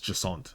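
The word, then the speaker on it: Jacinthe: I'm going to skip over these next two and go straight to uh Jant and Laban. Uh so firstly, J A C I N T H E in French is Jant.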